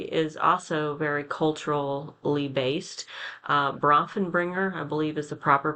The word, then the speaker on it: Bronfenbrenner: Bronfenbrenner, I believe is the proper pronunciation of his ecological systems theory.